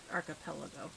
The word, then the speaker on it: Archipelago: Second one was Archipelago. Okay. That's usually how I've heard it pronounced, but my brain still wants to say Archipelago, which is wrong.